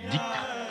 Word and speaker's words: dhikr: particulier la pratique collective du dhikr que les Afghans prononcent zikr à la façon persane.